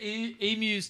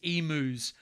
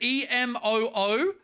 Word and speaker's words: emu: I think you lost to emus too and camels. You know what actually gets me is when Americans call emus emus. Pronounce the U. It is an emu, not an emu. Is it EMOO?